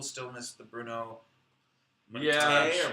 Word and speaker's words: Mattei: Yeah, Mattei sure. or Matai. Matei. Mattei. Oh It man. rhymes with okay. Just like a George Takei.